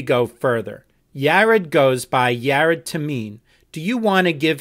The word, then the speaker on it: Yared Tamene: thing before we go further jared goes by jared tameen do you want to give him your full legal name for the record mr tamin i'm sorry my full name is yarot tameen rolled your hands that's spelled hyphen by blank question so